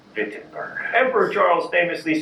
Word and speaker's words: Wittenberg: Also, let me say retroactively, now that everyone has commented on my poor German pronunciation, Wittenberg.